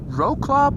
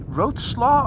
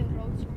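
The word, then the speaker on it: Wrocław: You write Rokla, but Bart from V1 has a Polish girlfriend, and he told me that you should say Rotsla or something like that, which it is definitely pronounced differently from the way you write it, and Just say Rotsla.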